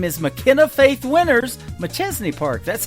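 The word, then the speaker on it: Machesney Park: McChesney Park, that's how you say it, Illinois.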